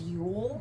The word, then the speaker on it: Yul: Did you say his name is Yule? Yule. Yeah, he's Russian. Like Yule log.